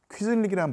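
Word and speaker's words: quisling: 예, 그만큼 중국의 도자기가 유명하니까 보통 명사가 나온 건데 이 비드쿤 크비슬링이 당연히 사람 이름이니까 고유명사인데 영어 사전을 찾아보면요 Q가 소문자로 들어가지고요 퀴즐릭이라는 발음으로 일반 명사입니다.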